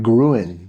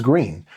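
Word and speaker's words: Gruene: which you would think that the per correct pronunciation is like gruin or that's how you would say it. That's how you would say it. But no, they they're flat out. No, it's green.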